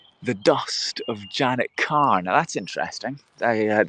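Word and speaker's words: Kerr: may be pronounced um if you think of the actress uh deborah uh deborah carr deborah carr um you can see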